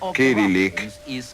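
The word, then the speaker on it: кириллица: Y es por eso que hoy la escritura de los rusos se pronuncia Kirillik o, si prefieren, cirílico.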